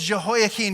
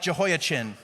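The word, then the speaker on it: Jehoiachin: Uh this is Jehoaken. Here's a couple things I want you to notice about this guy. Okay. Uh, this guy, you would have thought I said Jehoakin and I said it wrong because this looks a lot like Jehoachin, right? Jehoachin is what a Midwestern person would say this king's name is, right?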